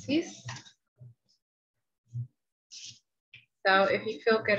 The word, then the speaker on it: six: Spelled just the same as in English, but pronounced six.